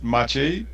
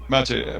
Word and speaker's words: Maciej: Well, if you want to pronounce my name, that would be hard, but the correct pronunciation is Maciej. But Mache. Maciej is a in English, so you can call me or or.